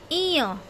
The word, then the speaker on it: ঞ: ঝ, ঝ, ইয়, ইয়, ইয়। অনেকে এই উচ্চারণটাও ভুল করে, এটা হচ্ছে ইয়। ট, ট, ঠ, ঠ, ড, ড, ঢ, ঢ।